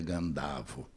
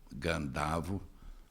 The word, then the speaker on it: Gândavo: denominação mais recente mas a minha geração ea geração dos meus mexe dizia gândavo eu acho que essa é deve ser a pronúncia é o nome gândavo criado à semelhança de batavo já que a família